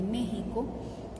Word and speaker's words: México: esto de toreo de méxico de los mexicanos que de ahí viene justamente el nombre por qué sin éxito aunque claro la equis la pronuncian como comuna j y los enfrentamientos con